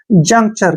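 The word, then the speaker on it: juncture: junk क्या पढ़ेंगे junk T यू का उच्चारण यहां पर च होगा और आर ई का उच्चारण र होगा और लास्ट में जब ई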